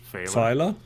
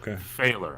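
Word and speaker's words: Fahler: pronounce it last name it's a German name but American would pronounce it failer it's it's f a h l e r f um so failer I think English probably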